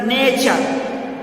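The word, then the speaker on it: nature: اسی طرح نیچر، نیچر.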